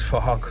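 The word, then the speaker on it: Phuc: His name is Fahok. It was spelled with a PH, so it sounds like Fahok.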